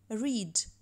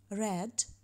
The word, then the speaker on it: read: Read – читати, read – читав.